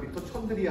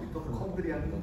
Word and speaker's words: 미토콘드리아: 영어 발음대로 그냥 미토촌드리아 아니죠? 미토콘드리아는 있습니다.